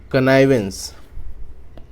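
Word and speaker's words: connivance: इसको प्रोनाउंस करते हैं हम कनाइवेंस।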